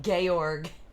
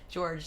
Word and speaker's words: Georg: Oh, I forgot she calls him Georg. George, sorry, I'm saying it wrong.